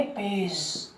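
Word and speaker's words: page: लेकिन हमारा प्रश्न क्या है, हमारा नियम क्या है कि अगर जी के आगे ई आ जाए, जैसे ये, इसको क्या बोलेंगे? पेज।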